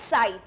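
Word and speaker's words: ψ: इसको कैसे बोलते हैं, साई से बोल, लाइक प्रोनाउंस हम साई करते हैं, और क्या बताता है, ये एक वेव फंक्शन है।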